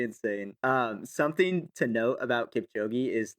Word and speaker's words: Kipchoge: Oh, Kipchoge. Yeah, Kipchoge.